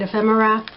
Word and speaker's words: ephemera: This is people, decorating, like bedrooms, fancy furniture, you know, ephemera, that's how you say it, ephemera.